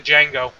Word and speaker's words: Django: No, I keep calling him the Django. The D is silent.